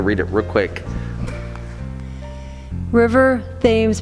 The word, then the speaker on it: Thames: just wait to read it real quick River Thames pronunciation as Tim's to rhyme with shims unless you mean the